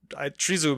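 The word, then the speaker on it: тризуб: like the three trees tree zoo is the best way i can think of to understand it but it comes from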